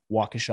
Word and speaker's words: Waukesha: recording is this uh horrible tragedy in uh waukesha i think is how it's pronounced but you know i think most of